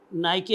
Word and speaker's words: Nike: 9वें number पर यूनानियों के अंदर जो है वो नाइके या नाइकी कह लें आप, ये अक्सर आपने